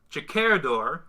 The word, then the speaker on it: Jakerdor: Jakerdor, which is how you pronounce it, he told me, really likes the frame for the screen.